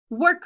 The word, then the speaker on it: work: listen it starts with so work is probably going to be tricky because the w is there work bench second to mine here's our two syllables work bench this one is our controlled and the r controlled is o r like worm so put your r